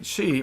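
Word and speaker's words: sídhe: The word, the Irish word for fey is she. It's spelled S-I-D-H-E, right? She, you've heard that, like banshee kind of thing. In Scotland, they pronounce it the same way, she, but it's spelled S-I-T-H,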